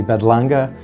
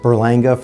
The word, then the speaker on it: Berlanga: mexico so though may not be easy to pronounce it's actually bedlanga uh not just burlanga for those who don't trill their ours i